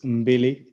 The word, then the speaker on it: Mbili: So the company is Roots Mbili Theatre.